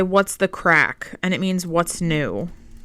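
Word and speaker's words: craic: like how was last night it was good crack meaning it was amazing yeah and it's pronounced crack for the record that's what I said no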